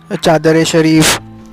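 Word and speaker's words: Charar-e-Sharif: Pilgrimage places है यहाँ पे कई जैसे कि वैष्णो देवी, अमरनाथ केव्स, ओके, चादर ए शरीफ, एक्चुअली स्पेलिंग में इट इज़ चारर ए शरीफ, CHARAR I शरीफ।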